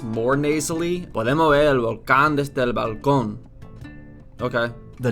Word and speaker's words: volcán: The N consonant, n, is velarized and pronounced ng at the end of words. For Velarized. example, in the word for balcony, Balcón, the word for Balcón. volcano, volcán, Volcán.